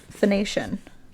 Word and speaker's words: Phoenician: In Phoenician, is that how you pronounce that? Phoenician.